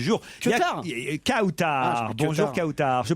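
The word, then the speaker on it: Kawtar: Ah, Bonjour Kautar. Je prononce bien votre prénom. Oui, c'est bien ça. Quelle est l'origine de ce prénom? Marocaine. Marocaine, c'est un très joli prénom. Kautar, ça s'écrit K-A-W-T-A-R, c'est bien ça?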